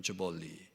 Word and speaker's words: Jubilee: 이것 을 주빌리 (Jubilee) 라고 하는데 , 영어 로 는 " 주빌 " 또는 " 주벌리 " 라고 발음 합니다 .